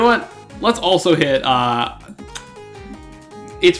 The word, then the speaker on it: AI: know play that and I was such a big Nintendo Land fam but oh well you know what let's also hit uh it's pronounced I the somnium files it's not AI it's I which is kind of